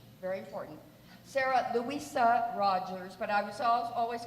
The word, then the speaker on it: Louisa: totally confused because ello they start saying lo ISA and I say no it's Louisa but they spell it